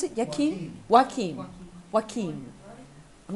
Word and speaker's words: Joaquin: We've got down in the San Joaquin, how do you pronounce it? Joaquin? Joaquin.